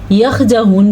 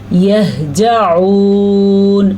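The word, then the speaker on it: يَهْجَعُونَ: ہاں کے تلفظ کا پھر سے آپ نے کہا یہجعون ہے, اس کو یہجعون غلطی سے بھی نہ پڑھنا, یخجعون بھی نہیں ہے, یہ ہے یہجعون.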